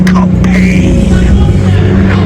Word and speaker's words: Capane: Let me say my name correctly for you since you don't know how to pronounce it. It is Capane.